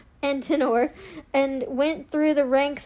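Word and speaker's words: Antenor: Son of Antiner. Ant. No. Antinor.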